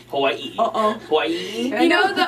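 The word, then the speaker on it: Hawaiʻi: You have to put a little ee in there, a little break. Ee. Hawaii.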